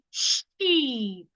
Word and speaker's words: sheep: Well, this one right here is pronounced sheep. Sheep. Release the sound slowly.